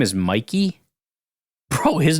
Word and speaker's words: Mike: was always kind of wait his name is Mikey bro his name is Mikey Sr still it's spelled Mike m i k e it's pronounced miky this is crazy Mikey Sr still anyways uh